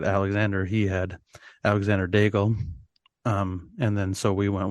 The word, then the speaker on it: Daigle: soon as I said Alexander, he had Alexander Daigle, and then so we went with Derek Alexander Daigle.